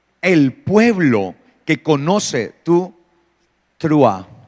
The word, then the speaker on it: Teruah: y dice allí el pueblo que conoce tu trua o trua hay algunas personas que le den más fácil decir teruá entonces no hay problema tranquilo por eso a